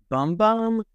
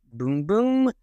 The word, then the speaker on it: Bum Bum: Next, we're going to add in the fragrance, and this looks like bum bum, but my understanding that it's actually pronounced boom boom.